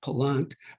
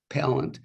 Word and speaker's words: Pallant: I asked him how he pronounced his name. He said Pallant. I said Pallant, but it's not. That's too fancy. It's Pallant. And he's the author of